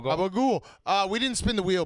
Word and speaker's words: gabagool: You had to say it right. It's gobble. Gabagool.